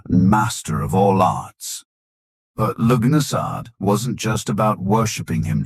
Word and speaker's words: Lughnasadh: In the misty hills and forested valleys of ancient Ireland, the beginning of August marked the sacred and deeply communal event Lughnasadh, pronounced Loo-na-sa, the Celtic festival honoring Lugh, the god of light, craftsmanship, and war.